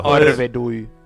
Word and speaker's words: Arvedui: And let me make sure I'm pronouncing that correctly. Arvadui. Let's have David Sallow. Arvedui.